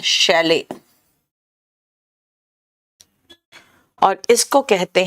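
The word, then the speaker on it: chalet: देखो सूरज जायसवाल, बेटा MTS के लिए कोई अलग से बुक नहीं होता, चलो ये जरा देख लो, इसका प्रोनाउंसिएशन पता क्या होता है, शैले, और इसको कहते हैं माल गोदाम।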